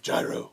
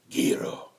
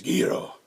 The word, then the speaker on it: gyro: this preferably the uh correct pronunciation of Gyro which is guo I don't know what Batman voice that was thank you Chad is that a fact it's a fact yes it's guo that's how it goes never knew that yes